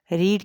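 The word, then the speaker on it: read: ही हैज़ रेड the book, ये रेड जो है वो रीड की थर्ड फॉर्म है, लेकिन स्पेलिंग वही है, लेकिन हम इसको रीड नहीं पढ़ेंगे, रेड पढ़ेंगे।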